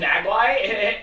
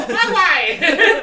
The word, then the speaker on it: Mogwai: And they called, is it a Magwai? And they go, Mogwai! Mogwai.